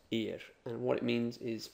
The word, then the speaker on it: ir: letters to it and it's I and it's pronounced ear and what it means is well it means